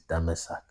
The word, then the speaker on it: Damasak: The real way to pronounce Damascus is Damasak or Damasak.